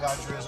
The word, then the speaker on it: Adria: one header immediately following Adria's goal oh we're guys another one here so it is pronounced Adria not Adria Adria I Adria so I'm I